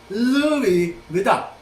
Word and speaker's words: Louis Vuitton: Hindi pinupronounce ang N. Sa mga sosyal, Louis Vuitton. Hindi Vuitton, Louis Vuitton. Hindi ganon.